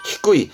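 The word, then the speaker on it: 低い: 발음은 히꾸이 말 그대로 낮다라 하면 히꾸이를 쓰겠던 부분인데 기억나시나요?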